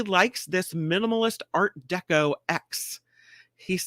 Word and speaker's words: X: collection of letters but they call the sun X is what they say that's how you say it I can't even spell